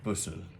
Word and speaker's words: Busserl: Teach me this pronunciation, lady. Busserl. Busserl.